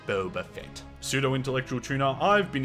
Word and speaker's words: Boba Fett: of shows like the Mandalorian the book of Bubba Fett and Obi-Wan Kenobi um actually it's pronounced Boba Fett pseudo intellectual tuna I've been incorrectly pronouncing his